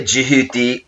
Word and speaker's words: Thoth: I, Thoth. That's spelled T-H. Probably make that out right there. Thoth. Some people say Jehuti, Thoth, T-H-O-T-H, but essentially this is also as